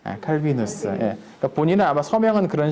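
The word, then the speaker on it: Calvinus: 그냥 그 당시에는 라틴어로 글 쓰는 게 일반적이었으니까 지식인들이 글 쓸 때 라틴어로 쓰니까 라틴어식 발음은 칼비누스입니다. 칼비누스.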